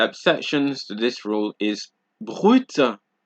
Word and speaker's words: brut: you see in French, you generally don't pronounce D's, P's, S's, T's, or X's. However, there are a few exceptions, just a few, such as sud, cap, slip, fils, bus, brut, ouest, huit.